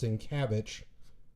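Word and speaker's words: Sienkiewicz: Um, like I said, it's apparently it's pronounced Sincavich, but it's spelled as Cowitz.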